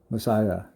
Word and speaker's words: Messiah: 메사야. 이거는 메시아입니다. 메시아는 우리식 발음이고 메사야.